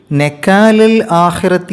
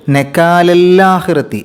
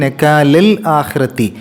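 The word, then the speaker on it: نَكَالَ ٱلۡآخِرَةِ: അല എന്നാണ് 25ാമത്തെ ആയത്തിൽ നക്കാലൽ ആഹിറത്തി എന്നുള്ള സ്ഥലത്ത് നക്കാലഹിറത്തി നക്കാലല്ല എന്ന രൂപത്തിൽ പോകരുത് നക്കാലൽ ആഹിറത്തി അതേപോലെതന്നെ അതേ ആയത്തിന്റെ അവസാനത്തിൽ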